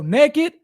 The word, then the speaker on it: NKD: directed towards toiletries, and it's spelled and pronounced NKD. So naked, NKD, beauty products, toiletries.